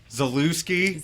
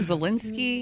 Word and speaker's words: Zalewski: Zalewski. Zalewski. We finally cleared up his name. Zalewski. How do you say this? We called him Zelensky.